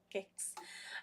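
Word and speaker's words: Pokaiks: paul so if you know it's blackfoot it's pronounced cakes um p-o-k-a-i-k-s dot com or dot c-a i'm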